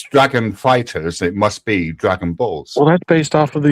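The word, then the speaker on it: Dragon Ball FighterZ: Z, but when people say Dragon Ball Fighter Z, let's play Fighter Z. They're actually saying it wrong. The game is called Fighters.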